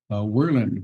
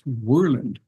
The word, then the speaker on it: Worland: guy and and uh we were playing uh warland one time and I pronounced it warland warland like it's spelled and